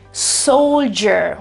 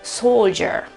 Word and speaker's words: soldier: e fa capire che c'è la R lì, non la pronuncio chiaramente, ma c'è, soldier. Viceversa, nella versione britannica, soldier, non c'è nessun tipo di R.